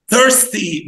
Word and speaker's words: thirsty: الأي آر بتضم بقك فيها فتقول ثر ثيرستي.